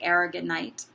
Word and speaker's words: aragonite: bit about the crystal argonite so our ignite is right here and sometimes people pronounce it arigon ight argonite so this beautiful beautiful